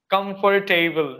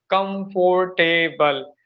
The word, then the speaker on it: comfortable: That in India, the people, they are taking four syllables, comfortable. But after that, after listening to Jay or Jess 80, I think you might know, he's running a podcast that is purpose. So after that, I listening to him, and it was really fantastic. I learned how to say comfortable in three syllables.